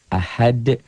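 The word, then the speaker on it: أحد: Ahad. Jadi ini tuh asalnya dhammah tain menjadi sukun bukan dalam tulisan tapi dalam bacaan. Ahad bacanya ada e-nya. Kayak bola yang mantul jatuh tidak langsung diam, mengeper, mengembal. Ahad.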